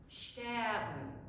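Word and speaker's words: שטערן: and Stern in Yiddish, it's actually a 2-syllable word. Wiln, Stern. Wiln, Stern. So you achieve that by elongating the first syllable and then making really quick work, moving right through the L to get to the N.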